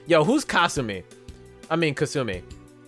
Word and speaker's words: Kasumi: I mean, Kasumi. Well, I guess Kasumi is the Japanese way you'd pronounce it.